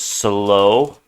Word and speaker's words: slow: The OU here says O, so slow. It doesn't always say O. Sometimes it says owl, like cow. Okay, but sometimes it does say O, like in toe. Rhymes with slow there.